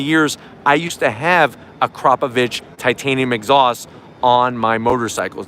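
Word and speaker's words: Akrapovič: this carbon series you're gonna get the optional a crop of itch exhausts now that's how you pronounce it a lot of people say Akrapovic it's a crop of itch it's actually six pounds lighter it's made out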